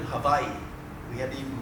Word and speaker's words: Hawaii: And we said, "Hawaii." And she goes, "No, we live in Hawaii."